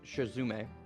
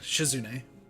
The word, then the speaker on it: Shizune: The right one is Shizume, right? Is that how you say it? Yeah, Shizune.